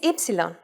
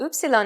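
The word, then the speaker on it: ύψιλον: Its name is Y, often called upsilon in English.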